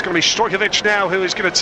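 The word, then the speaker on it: Stojković: it's going to be Stojkovic now who is going to take the free kick, edge of his own penalty area. Stojovic, the actual Serbian pronunciation, and the referee brings the first half to a close.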